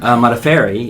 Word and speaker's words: Modafferi: How to pronounce my last name? Modafferi Yes. is the correct pronunciation.